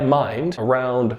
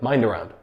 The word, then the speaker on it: mind around: If we notice the words mind and around form together and we say it like mind around, mind around. And here the D becomes sort of a soft D sound.